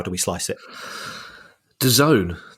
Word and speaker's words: DAZN: do we slice it Doone that's that's how they're pronouncing is it Doone that's right yeah I'm I'm I'm